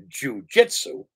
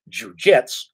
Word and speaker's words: jujutsu: comes in we all know about supposedly as pronounced jujitsu correctly it's pronounced jujitsu and if we're talking about old style jets